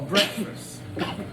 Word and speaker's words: breakfast: no you speak the English language is a break fast you're breaking the fast so we didn't realize